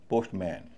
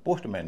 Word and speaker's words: postman: पोस्टमैन। पोस्टमैन। लेकिन यहां पर इसका उच्चारण पोस्टमैन नहीं होता। पोस्टमन होता है। पोस्टमन यानी एम ए एन का उच्चारण मैन ना होके मन हो जाता है।